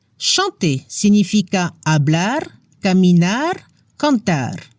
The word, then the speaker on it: chanter: Ejemplos de verbos del primer grupo: parler, marcher, chanter, significa hablar, caminar, cantar. La combinación ER al final de los verbos suena como la E en español. No se pronuncia la R.